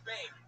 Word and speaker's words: Bame: Is it Beam or Bem? Bame. Beam? It rhymes with name.